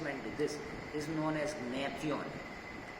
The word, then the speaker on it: Gnathion: This is known as Natheon. Natheon. The G is silent. Gnathion. Natheon.